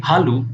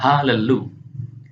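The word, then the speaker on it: הללו: Jadi kita tidak boleh membacanya sebagai halu, melainkan halelu.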